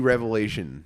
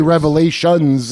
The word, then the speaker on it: Revelation: Um they didn't let us do Revelation. They would go not right now. They did but you know not to say Revelations.